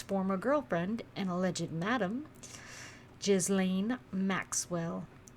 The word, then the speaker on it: Ghislaine: girlfriend and alleged madam, Ghislaine Maxwell. I haven't heard anybody say her name right. I think it's Ghislaine.